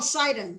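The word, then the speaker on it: Sidon: uh uh actually uh sodom cedar how you pronounce that oh cyton yeah yeah uh zerafest uh the different um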